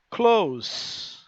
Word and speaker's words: close: near e a palavra close. Professor, tá certa essa pronúncia? Close? Som de S? Tá. Porque existe outra palavra que é escrita exatamente igual, que tem som de Z, que é close.